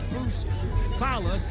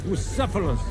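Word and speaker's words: Bucephalus: What kind of name is Bruce Phallus anyway? It's pronounced Bucephilus.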